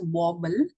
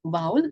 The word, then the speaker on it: vowel: So see, this is not pronounced as wobble, right? A lot of people call it wobble, but it's not that, it's vowel.